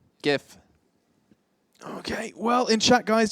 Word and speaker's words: GIF: does it mean it's GIF okay well in chat guys just let Jason know that it's wrong and that J GIF is the correct way to say it and then he said